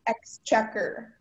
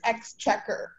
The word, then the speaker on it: exchequer: Your word is exchequer.